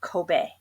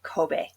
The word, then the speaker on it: Kobe: talking about the beef you have to say Kobe Kobe beef that's how it's pronounced so remember ease or A's in Japan